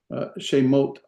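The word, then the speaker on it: שמות: This is shemot, right? Shemot, 2 syllables, 1 vowel, 2 vowels, 2 syllables.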